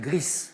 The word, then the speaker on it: Gris: dit Brigitte oui gris on prononce je crois le le S à l'espagnol gris un ro Griss mais c'était la bonne